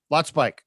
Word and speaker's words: Lotspeich: It's Lotspeich, right? Lotspeich. You got it. Lotspeich. That's what I thought. Okay. All right, man. We're going to get rolling. I was actually, I grew up pronouncing it Lotspeich.